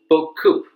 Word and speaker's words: BeauCoup: fan of french wine so i pronounce it in the french way book coupe it means many a lot in french network administrators often